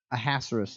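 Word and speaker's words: Ahasuerus: king or dessert seeds it's not uh ahasurus a hazarus is how you say that it sounds like a dinosaur a hazardous king of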